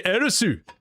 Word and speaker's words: Eris: They say Erisu. Japanese people don't use a th. I'm simply pronouncing it the correct way. All right. I'm pronouncing it I I I pronounce Eeris in glorious Japanese.